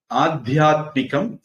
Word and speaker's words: ஆதியாத்மிகம்: ஆதியாத்மிகம் ஆதி தெய்வீகம் ஆதி பௌதிகம் பொதுவா அது உச்சரிப்பு வந்து சரியான உச்சரிப்பு எப்படின்னா ஆதியாத்மிகம் மீக்குறில் ஆதி தெய்விகம் விக்குறில் ஆதி பௌதிகம் தீக்குறில் நாகரிகம் ரி குறில் ஆன்மீகம் மீக்குறில் இலக்கணப்படி அப்படிதான் வரும் நிறைய பேர் அத நீட்டி